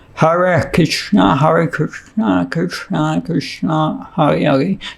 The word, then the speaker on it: Hare: They can't pronounce the R, the letter R. तो जो Chinese हैं वो आर जो रे र है उसका उच्चारण नहीं कर पाते. हले हले बोलते हैं वो.